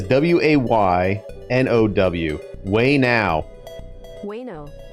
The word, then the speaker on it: Ueno: Oh, it's way now. Wayno. Wayno. Oh, I haven't. Wayno. Wayno. Okay. Sounds like wait. It says W-A-Y-N-O-W.